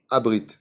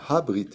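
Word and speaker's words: הברית: Il y a marqué Aaron Abrit. Aaron? Non. C'est marqué Aaron Habrit. C'est un He, c'est pas Abrit avec un Aleph.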